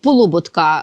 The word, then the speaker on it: Полуботка: чому вона апелює до Полуботка наголос саме такий правильний Хоч він комусь може здаватися дивним тому що його прадід